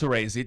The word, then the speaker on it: Soresi: Just so you know, it's Soresi, just for the podcast.